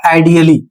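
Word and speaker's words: ideally: ए का उच्चारण बहुत हल्का करना है। इसका नियम क्या है? तो यहां पर नियम लिखा हुआ है, इसमें कह रहा है कि जब शब्द के अंत में ALLY जुड़ा होता है तो वहां पर ए साइलेंट हो जाता है, अर्थात ए को वहां पर आपको नहीं बोलना है, ए चुप हो जाता है।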